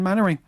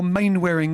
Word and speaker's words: Mainwaring: Dad's Army, the Lost Episodes, where he played Captain Mannering. Or Mainwaring, as I used to say it was when I was a kid, because I couldn't.